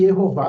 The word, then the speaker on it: Jeová: que jehova é inglês mas jehova reflete e jehová do hebraic não foi à toa ele vem